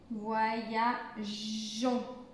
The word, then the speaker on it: voyageons: Donc pour le prononcer, pour prononcer voyageons, voyageons. Donc c'est pour la prononciation, sinon ça ne se prononcerait pas comme ça. Donc c'est pour faciliter la prononciation qu'on met le E.